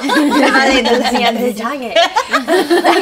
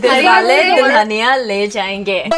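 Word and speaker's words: Dilwale Dulhania Le Jayenge: Dale dulhania le jayenge. That's how you say it. Dale dulhania le jayenge.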